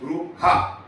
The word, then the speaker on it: Brewaah: It's pronounced Brewaah. Okay, there are 2 R, but 1 I is swallowed up.